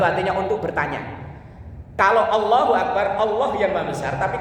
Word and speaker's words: Akbar: artinya Terus yang kedua jangan memanjangkan huruf ba dalam lafaz Akbar jangan sampai membacanya Akbar artinya berbeda jauh kalau Allahu akbar artinya Allah yang maha besar tapi kalau Allahu akbar a-nya dibaca panjang itu ada huruf istifham